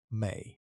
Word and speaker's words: ME: Mesopotamian cosmology is built around a concept the Sumerians called the ME, written in cuneiform with a single sign and pronounced approximately "may".